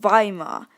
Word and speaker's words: Weimar: with the V books in the German language the letter W is pronounced with a V sound language is so cool